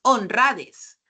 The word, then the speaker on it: honradez: Tú no dices honradez ni dices honradez, dices honradez.